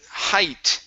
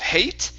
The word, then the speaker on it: height: Height instead of hate. Okay, this is high. Height doesn't matter.